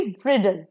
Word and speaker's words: bridle: For example she is looking beautiful in अ ब्राइडल dress, लेकिन BRIDLE ब्राइडल will be ब्रिडल और ब्राइडल, इसका pronunciation DAL डाल नहीं होगा, डल होगा।